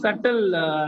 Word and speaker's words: subtle: Yes, it's pronounced as subtle, Netra. The B is silent.